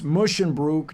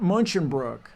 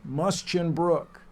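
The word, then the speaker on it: Musschenbroek: the poor man's name it's mushin Brook not munch Brook say it with me musin Brook but yes the correct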